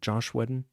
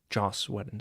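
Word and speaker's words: Joss Whedon: How are you supposed to pronounce that? Josh Weden. Jos Weden, sorry.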